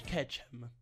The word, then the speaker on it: Ketchum: premo su Google Translate e si pronuncia Ash katchem katchem all cattura tutti cch